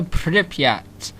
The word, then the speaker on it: Pripyat: But today I'm going to be reviewing Stalker, called a Pripyat. That is how you pronounce it, don't try questioning me on that.